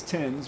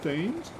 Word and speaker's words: Thames: You should be proud of me for pronouncing it. Because God knows half the other admins say, oh, is it Thames? The Thames River?